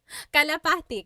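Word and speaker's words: kalapati: Local cry said, "How do you pronounce galapati?" Calapati.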